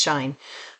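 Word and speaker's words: Shein: taxes at Shine or Sheen, and some of you call it different, but it's pronounced Shine.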